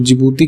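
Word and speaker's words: Djibouti: तो जिबूती की स्पेलिंग जो है वो डी से है, ठीक है।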